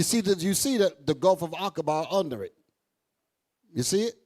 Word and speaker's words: Aqaba: Aqaba. That's how that's pronounced. Aqaba, the Gulf of Aqaba.